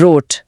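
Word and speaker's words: rot: आर का उच्चारण मुझे हमेशा से थोड़ा मुश्किल लगा है। ये हिंदी वाले र जैसा नहीं है। है ना? बिल्कुल नहीं। हिंदी का र जीभ की नोक से आता है। जर्मन आर गले के पिछले हिस्से से आता है। जैसे आप गरारे कर रहे हो।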